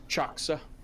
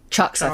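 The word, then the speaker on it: Chaksa: Can you also just remind us how his name is pronounced, please? Choxa. Choxa.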